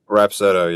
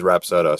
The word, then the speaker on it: Rapsodo: Is it pronounced Rapsodo? Rapsodo, yeah. There's a couple, some people say Rapsodo, but it is Rapsodo.